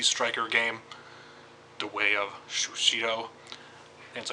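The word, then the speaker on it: Sushido: The reason why I'm doing this video is because I played the demo of that Sushi Striker game, The Way of Shushito.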